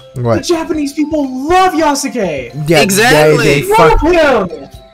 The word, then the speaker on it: Yasuke: It's Yasuke. Yeah, Yasuke.